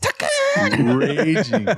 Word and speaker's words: Tekken: Somebody's probably typing away like, that's not how you pronounce that shit. It's called Tekken.